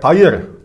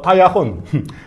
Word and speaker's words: Tahir: Zum Beispiel mein Name heißt Tahir. Dann in der Aussprache, man sagt Tayir, Tayir oder Tayachun. Unterschiedliche Weise, dann unterschiedliche Regionaldialekte.